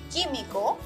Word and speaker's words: químico: Again, if you see the UI combination after a G or a Q, it does not have this sound. You only pronounce the I, for example, guisado, químico.